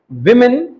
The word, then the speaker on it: woman: ऑफ 3 विमेन in Nagjhari area. अब लिखो WOMAN, WOMAN। इसके आगे इसका प्रोनाउंसिएशन लिखो वुमन, वा में बड़े ऊ की मात्रा, वुमन।